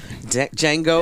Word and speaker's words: Django: play the clip from Jango unchanged cuz we don't have enough time for the clip the D is silent the Quinton Tarantino movie